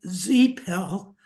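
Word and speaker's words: Zepel: I think that's supposed to be pronounced Zeppel to rhyme with repel.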